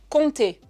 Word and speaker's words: compter: Prenez le mot compter. On ne prononce pas le pai.